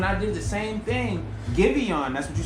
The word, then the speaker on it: Giveon: I How said you pronounce Javon. his name right. Okay. I was saying Javon and some more shit.